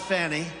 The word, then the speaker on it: Fani: He worked with Fani, even though it's spelled Fanny, F-A-N-I, Fani.